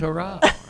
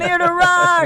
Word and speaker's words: Amir Derakh: AMIR DERAKH. It sounds better when other people say it. I know. Without the southern accent. AMIR DERAKH.